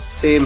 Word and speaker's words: sow: बताए, होमोफोन्स जिनकी pronunciation same है और होमोग्राफ्स जिनकी स्पेलिंग सेम है। अब देखिए एक इंटरेस्टिंग वर्ड आपके सामने है, SOW। इस वर्ड की प्रोनाउंसिएशन है यानी उच्चारण है सो, लेकिन इस वर्ड के दो अलग अलग मीनिंग है।